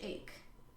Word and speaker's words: Ake: Another coach who is very significant to this story was named Coach Ake, like E-K, but I listened to the audiobook, so I learned how to pronounce most of these.